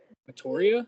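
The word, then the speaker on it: Meteora: older album um would be Lincoln Parks um voria that's how you say it um my favorite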